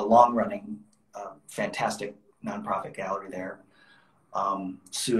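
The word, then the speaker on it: Soo: Sue is spelled S-O-O.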